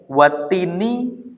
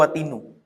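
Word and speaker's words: وَالتِّينِ: Ya, watini atau watina atau watinu. Watini kan? Lah iya. Kenapa? Karena wawunya wawu qasam. Nah, pasti dibacanya watini.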